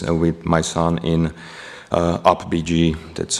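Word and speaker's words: UPBGE: uh simple games with my son in uh up BG that's how I pronounce it okay so let's talk real quick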